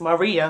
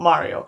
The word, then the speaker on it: Maria: It's fine, I forgive you for making the mistake for now, but next time it's Maria, not Mario. I know I say it like it's the Mia Mario, but it's a Maria.